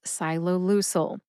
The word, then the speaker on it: ciloleucel: Ciloleucel has 4 syllables. The first 2 syllables sound like the word silo. Sci plus lo equals silo, like a missile silo. The third syllable is Lou, like the nickname for a man named Louis or a woman named Louise, Lou, and Sel, like select. Put all 4 syllables together and you get ciloleucel.